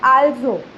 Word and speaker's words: also: ये जो अल्सो होता है ना वो स्पेलिंग में तो सिमिलर है हमारे इंग्लिश के अल्सो की जैसे, बट यहाँ पे उसका मीनिंग एक तो होता है ऑल टुगेदर, ऐसा करके उसका मीनिंग होता है, और प्रोनाउंसिएशन है आल्सो. आल्सो. ओके, अल्सो नहीं पढ़ना है यहाँ पे.